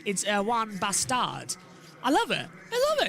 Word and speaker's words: Erwan Bastard: Well, the English pronunciation is Erwin Bastard, but it's actually because he's French. It's Erwan Bastard.